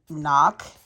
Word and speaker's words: knock: with silent G and starts with a silent k knock okay for that one